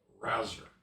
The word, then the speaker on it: Rauzer: A chess biography of Sesvolod, how do you pronounce his name? Rouser.